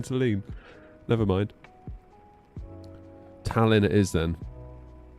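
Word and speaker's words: Tallinn: Heads up, Talon is pronounced by accentuating the A. Oh, that's interesting. cuz I said Talin first of all and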